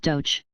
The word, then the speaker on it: Dakh: The wars took place, a peace treaty was made, and the Syrians became the advanced guards of the Queen, the feared Dakh, pronounced Doch, think dog, warriors.